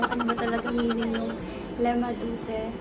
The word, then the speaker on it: lemaduce: I haven't really introduced myself to you guys, and marami nang tatanong kung ano ba talaga meaning yung lemaduce. So it's lemaduce, not lemaduce or lemaduce.